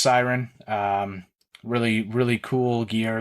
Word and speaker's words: Syron: really cool chat with another Canadian company called Syron Golf, spelt Syron, pronounced Syron.